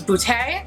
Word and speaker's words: Beauté: i very lovely subscribers actually phonetically pronounced which is French which I believe was boot a they said something like